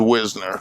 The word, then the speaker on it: Wisner: it's the moreno marina the correct pronunciation is wisner wisner or if you're from